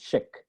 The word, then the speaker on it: Szyk: born first of all their last name is pronounced chick as in if it had an SH in